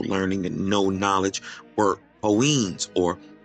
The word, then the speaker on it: Kohen: In Ge'ez, the word for priest is Kohen, pronounced Kain.